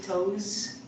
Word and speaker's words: toes: The pronunciation is with a Z, but it's spelled with an S, so we say toes.